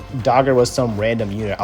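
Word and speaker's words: Dagr: spend much time on dagger at all because i made an entire video on dagger but tldr dagger is well i should say dogger because that's how you pronounce her name dogger is going to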